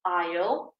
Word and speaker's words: aisle: Your feet were in the aisle. Remember this word, aisle is the corridor in the middle of the metro. And remember, we do not pronounce that S. Yes, it's always aisle, similar to I will, the contraction aisle in English.